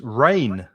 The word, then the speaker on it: reign: and a noun and the pronunciation is exactly the same as juvia in english reign of queen elizabeth the reign of the king of spain for example so that's another silent g and exactly the same pronunciation as r-a-i-n which if you look